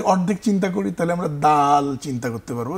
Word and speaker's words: দাল: দালের মৌলিক উচ্চারণ টেনে পড়তে হবে।